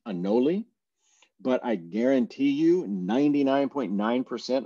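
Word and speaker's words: anole: is it green a uh is it green anoli uh how do you pronounce it I've even heard some people say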